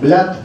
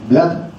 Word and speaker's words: Vlad: He oído todo tipo de pronunciaciones, desde types, como las antiguas cintas de Cassette, es Blat en romano. Y además lo he preguntado a una amiga romana que me lo ha dicho hoy, es Blad Chepes.